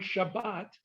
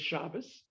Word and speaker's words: Shabbat: major difference is uh certain letters will have a t in it in ashkenazi sardic pronunciation while in the ashkenazic pronunciation will become an s sound for example the word shabbat is shabbos is also sabbath and